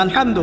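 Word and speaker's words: الحمد: প্রতিপালক বা মালিক আচ্ছা এখানে আলহামদু কেমন করে উচ্চারণ করেছেন দল কোথা থেকে মাঝখান থেকে না আচ্ছা আলহামদু অর্থ সমস্ত প্রশংসা যদি কেউ বলে আলহামদুলিল্লাহ অর্থ কি হবে?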